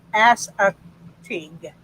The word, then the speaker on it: Assateague: He says pronounced Assateague.